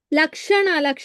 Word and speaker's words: Lakshana: What should be pronounced? Let me check 1 second. Okay. Tatastha. Lakshana Mataji.